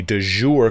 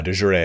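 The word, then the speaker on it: de jure: for your personal claim a du jour claim and i know i mispronounced that a de joure i believe it is claim that you're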